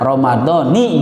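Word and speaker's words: رمضانِ: Yuqra'u Ramadhanu bil kasrati, ya, dibacanya nun lafat Ramadan itu dengan kasroh, berarti bagaimana? Ramadhani gitu ya.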